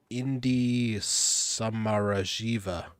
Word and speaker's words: Indi Samarajiva: Indi Samarajiva. You're gonna have to spell it for me.